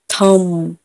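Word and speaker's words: thumb: एम के बाद बी है तो यहाँ पर भी साइलेंट है। थम, डम।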